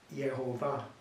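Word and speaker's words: Jehovah: us in common pars the pronunciation which is actually a with the letters the consonants of one and the bows of the other becoming yehovah because the consonants are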